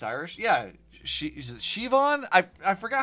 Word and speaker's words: Siobhan: Siobhan, it's Irish. Yeah, is it Siobhan? I forgot how they pronounced it. I remember that the BH or whatever makes a V sound.